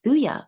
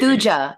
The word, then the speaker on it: Thuja: Now, Thuya, And so, you're pronouncing the J as if it's Spanish. It is a J, right? Like Thuja. Thuja, you want to say Thuja, like Thu Jones or something like I that.